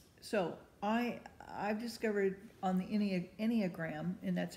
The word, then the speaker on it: Enneagram: So I've discovered on the Enneagram, and that's how you pronounce it, but it's spelled E-N-N-E-A-G-R-A-M.